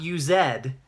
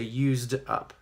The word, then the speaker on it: used: Edie used up not use ed incorrect pronunciation because this ends in an S sound of vows this this